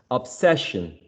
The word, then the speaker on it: obsession: Obsession. It's the same syllable, right? The same syllable. No change in terms of stress.